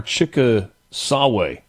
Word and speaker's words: Chickasaw: Is that Chickasaw or Chicka Sawe? Chickasawe. Chickasawe Ranger District. Believe that's how you say it.